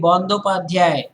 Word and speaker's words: Bandopadhyay: It's actually Bandopadhyay, not Banerjee, and Mukhopadhyay, not Mukherjee.